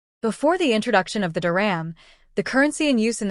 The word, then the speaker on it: dirham: since the symbol for the UAE Duram is pronounced Duram and its subdivision is the Phils one Duram